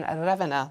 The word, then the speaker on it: Ravenna: and will carry out engagements in Rome and Ravenna. That's how you pronounce it.